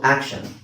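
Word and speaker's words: action: ಟಿ ಐ ಓ ಎನ್ ಟಿ ಐ ಓ ಎನ್ ಬಂತು ಅಂದ್ರೆ ಎಲ್ಲಾ ಕಡೆ ನೀವು ಶನ್ ಅಂತಾನೆ ಹೇಳಬೇಕು ಮಿಕ್ಕಿದ್ದು ಏನು ಆಕ್ಟ್ ಸೋ ಆಕ್ಟ್ ಅಂತ ಹೆಂಗೆ ಗೊತ್ತಾಗುತ್ತೆ ನಿಮಗೆ ಫೋನಿಕ್ಸ್ ಬ್ಲೆಂಡಿಂಗ್ ಅಲ್ಲಿ ಗೊತ್ತಾಗುತ್ತೆ ಸೋ ಆಕ್ಷನ್ ರೈಟ್ ಸೊ ಇದರ ಉಚ್ಚಾರ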